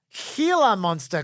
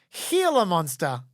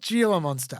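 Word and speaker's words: Gila monster: are right about that healer monster correspondence fun fact from James it's pronounced healer monster not Jer monster oh great the name comes from Spanish similarly Saro Cactus is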